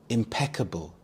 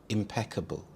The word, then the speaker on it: impeccable: Impeccable. Impeccable. The stress is on the second syllable peek. Impeccable.